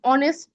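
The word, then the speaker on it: honest: ওকে হ্যা তো আমরা যখন অনেস্ট উচ্চারণ করি তখন কিন্তু এইচটা আসতেছে না আমরা আর্টিকেলে কি জানি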